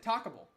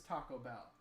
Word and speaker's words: Taco Bell: I used to pronounce it talkable. No fucking way. I used to pronounce it talkable.